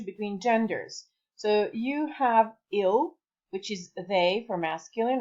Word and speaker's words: il: Il is he, il, and ils, it's they, so plural. But they're pronounced is exactly the same way, unless there are some